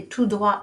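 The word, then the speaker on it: tout droit: to the fact that the last letter you barely pronounce it so we don't print any of the t say two dua it's straight ahead or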